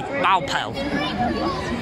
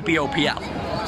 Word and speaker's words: BOWPL: Well, it's a silent W. It technically should be Baupel.